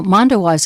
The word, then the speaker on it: Mondoweiss: You know, Mondowise is a great website. Spell that one.